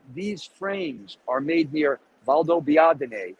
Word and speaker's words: Valdobbiadene: frames are made near Valdobbiadene. And if you're Italian, you can pronounce that. But if you're not Italian, it'll be terrible. You can't pronounce it. Valdobbiadene.